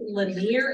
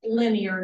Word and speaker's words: linear: thing or you know that they say lenir and she was like no so I have no idea never prior to this had I heard anybody pronounce it that way nor have I S so I don't know where he picked up on that so anyway it is linear not linear all right so in